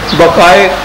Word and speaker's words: Bucaille: یہ ڈاکٹر ہے, یہ فرینچ نیم ہے, شاید اس کے تلفظ ایسا صحیح نہ ہو. مورس بقائے اس کو کہتے ہیں کہ یوں پڑھنا چاہیے, اگرچہ وہ MAURICE ہے اور وہ اگلا ہے BUCAILLE.